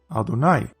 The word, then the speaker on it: Adonai: This last one almost certainly has to do with the fact that Yod-Hei Wav-Hei is typically pronounced Adonai, so then it becomes Wadonai.